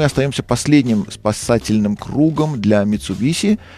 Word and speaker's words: Mitsubishi: Кстати, примечательно, даже сами японцы это название произносят через «ше». Они говорят «Mitsubishi». Ну, мы вот привыкли немножко сюсюкать с этой маркой, хотя «Toshiba» у нас через «ше», а «Mitsubishi» у нас через «с».